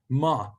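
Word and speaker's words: מָה: the first one ah halfway between cat and father is how you pronounce it so like in the hebrew word for what which is ma ma means what so when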